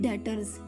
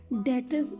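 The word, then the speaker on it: debtors: होगी सबसे पहले देखें डेटर्स डेटर्स सबसे पहले तो इसको प्रोनाउंस करने का भी ध्यान रखना है कि बी जो होता है इसमें साइलेंट होता है डेटर्स आर द पर्सन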